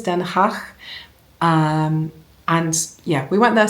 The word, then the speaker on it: Den Haag: I think the Dutch pronunciation is Den Haag.